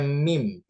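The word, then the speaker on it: meme: Kemudian ada mim, bacanya mim ya.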